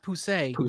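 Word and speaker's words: Pussey!: But I would recommend starting with, like, to be honest, Pussy, or pronounced Poussey, is such a great,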